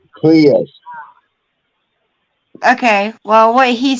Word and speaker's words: Prius: It's pronounced Prius.